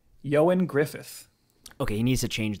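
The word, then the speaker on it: Ioan Gruffudd: was going to say i was going to say iron griffon yeah that is not what it is no way yeah you want me to tell you how to pronounce it yeah yeah yeah yeah you go johan griffith okay he needs to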